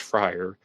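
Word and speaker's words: Fryrear: had the maiden name frier spelled f r y r e a r but pronounced frier and the Zodiac would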